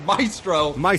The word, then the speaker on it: Maestro: This pronunciation news coming in. It is Maestro.